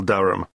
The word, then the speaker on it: Durham: How do you spell Durham? D-U-R-H-A-M. Of course, I should know that. But it's just one of those names that sounds quite different from the way you spell it.